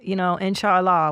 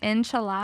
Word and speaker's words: inshallah: Did you say inshallah? Yeah. Inshallah. That's how they say it in the Muslim world.